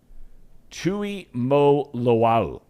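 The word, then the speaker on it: Tuimoloau: that's his lineage JT Tui Mo Loa you pronounce every single vowel when you're pronouncing Samoan players names but did you see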